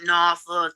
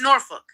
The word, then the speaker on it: Norfolk: It's not Norfolk. It's not no-fuck. It's Norfolk.